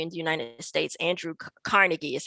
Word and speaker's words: Carnegie: And she said, why are you saying Carnegie? It's Carnegie, right? So that's an evolution of the pronunciation of this name, right? He doesn't say it exactly like, or the people don't say it exactly like his European ancestors.